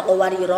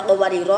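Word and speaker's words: قواريرا: Qawariro cara membacanya ada 3. 1. Berhenti pada qawariro ayat 15 rohnya dibaca panjang. Dilanjut pada qawariro ayat 16 rohnya dibaca pendek.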